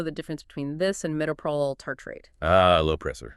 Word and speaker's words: Metoprolol: Metoprolol Pronounced Metoprolol Succinate.